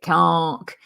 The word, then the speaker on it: caulk: Nonsense decorators cult CK it's spelled caulk but you actually pronounce it CK and so I do